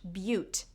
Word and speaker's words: Butte: It is, of course, pronounced Butte. It was named for a nearby butte, which is an isolated